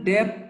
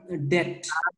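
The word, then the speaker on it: debt: একটা প্রবলেম হয়েছে এটা ডেপ্ট না ডেপথ না বি এর উচ্চারণটা হবে না ওকে আমার ডেট সরাসরি ঠিক আছে সরাসরি এটা কি ডেট নট ডেপ্ট বি এর উচ্চারণ করার দরকার নাই বিয়ের উচ্চারণ ঠিক আছে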